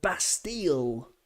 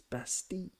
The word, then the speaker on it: Bastille: Chantilly, like Bastille doesn't exist in French. It's Bastille. Same kind of thing, double L. Pronounce it like a Y.